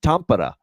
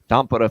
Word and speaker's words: Tampere: Florida, Dallas, in Tampere, Finland is how you pronounce that, by the way.